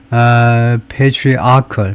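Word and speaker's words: patriarchal: 뭐 발음을 발음이 굉장히 중요한 건데 다른 모든 언어권는 사람들한테요? 에 그래서 패트리아클 패트리아클 아에 액션 들렸네 아클 패트리아클 이렇게요 아에다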